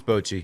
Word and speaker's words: Bochy: Oh, Bruce Bochy. I butchered it and couldn't.